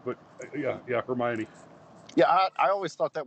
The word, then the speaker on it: Hermione: of like when i realized her name was hermione instead of her mind you know when i read that book originally